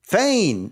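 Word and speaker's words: Fain: The last syllable was correct. Do that again. Fane? Fane. Yes. Oh, okay. All right. Yes, his name is Padden Fane. That's correct. I was like, Perrin Fane. That doesn't sound right, but it might.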